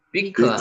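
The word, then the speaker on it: בִּקְעָה: 피크 한번 해 보세요. 비크 요것도 실제 발음은 B로 나는게 더 정확하게 발음하니다.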